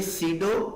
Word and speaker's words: pseudo: बात बताना चाहूंगा कि ये जो पी है, पी को क्या है कि आपने लिखने में तो लिखना है, लेकिन पढ़ने में क्या है कि आपने इस पी को साइलेंट कर देना है। तो हम इसको क्या पढ़ेंगे, सीडो कोड।